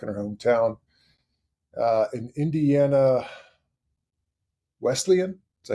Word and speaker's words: Wesleyan: In Indiana, Wesleyan, is that how you say it?